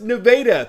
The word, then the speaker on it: Nevada: nevada high school yes that's pronounced nevada thank you for watching